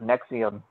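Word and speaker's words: NXIVM: called n X IBM so it's called it's pronounced nexium but this this association group corporation whatever you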